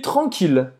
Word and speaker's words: tranquille: E apesar de ter dois L's, a gente vai falar como se tivesse só um. Tranquila. Tranquille. Mas você vai pronunciar o L.